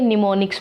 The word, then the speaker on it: mnemonics: आ सकती है बिकॉज़ यहां पर जो एम है वह साइलेंट है इसलिए तो इसको क्या बोलेंगे निमोनिक्स बोलेंगे अब हिंदी में भी